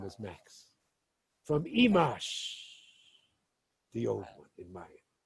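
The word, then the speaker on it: Imax: But he said it comes from the Mayan word Imash, pronounced Imash, but spelled, if you know Mayan, I-M-A-X, pronounced Imash.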